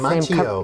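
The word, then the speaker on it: Macchio: I know that I had seen here that you, is Ralph, how do we pronounce Ralph's last Machio.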